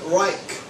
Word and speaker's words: Rich: Rich, but he called it Reich. It was R-I-C-H.